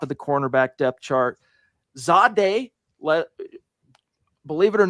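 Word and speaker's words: Zaire: Zadeh, believe it or not, that's how you're supposed to say what it reads phonetically, Zadeh Barron, but it's Zadeh Barron.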